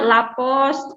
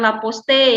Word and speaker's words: la poste: Selanjutnya bacanya lapos, bukan laposte ya.